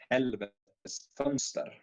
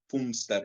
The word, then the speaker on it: Helvetes Fönster: America and Britain say, but it's Helvetes Fönster. And the O with the two dots over is so it's not Fönster, it's Helvetes Fönster. So that's how you pronounce it.